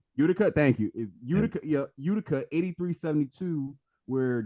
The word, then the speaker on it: Utica: they beat you I already not pronounced his name I think it's Utica Utica thank you Utica 8372 where jacier no got